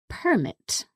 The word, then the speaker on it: permit: as well for example the verb permit which means to allow someone to do something as a noun that would be pronounced permit So like um your